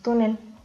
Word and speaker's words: túnel: por lo que debemos acentuar en la penúltima sílaba y porque termina en Z. La siguiente palabra es túnel, igualmente es una palabra grave y como termina en L se debe de acentuar.